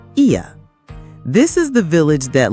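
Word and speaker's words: Oia: First stop, Ia, pronounced Ia.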